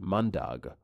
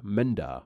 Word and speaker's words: mandag: they are pronounced differently the Norwegian one is pronounced mandag while the Danish one is pronounced Menda because of this I read